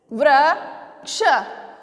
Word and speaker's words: वृक्ष: व पे मैंने री की मात्रा लगाया, क्या बना, व्री, व्री। कैसे उच्चारण करेंगे इसका, व्री। ठीक है, व और री, तो री, व्री, व प्लस री, व्री, ग प्लस री, ग्री। अब इससे क्या शब्द बनाए मैंने, वृक्ष, वृक्ष। क्या बोलेंगे इसको हम, वृक्ष।